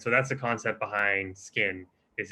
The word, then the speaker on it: Skiin: So Skiin, spelled Skiin, mispronounced sometimes as skin. That's an inside joke, but Skiin.